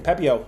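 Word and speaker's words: Pepiot: Pepio.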